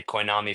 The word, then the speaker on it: Koinami: I'll cut the name down to Kobe, and everyone can just say Koinami for short. It rhymes kind of with my name if you squint.